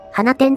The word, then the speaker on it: 放出: 列車になります放出と書いて花天って読むのか初見では